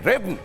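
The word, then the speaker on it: Rivne: अब यहीं पर एक है रिब्न, जिसको रिब्ने भी कई जगहों पर प्रोनाउंस किया जाता है।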